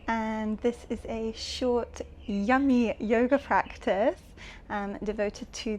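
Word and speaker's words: yam: Place them on your heart and you're going to chant yum. Y a m but pronounced yum.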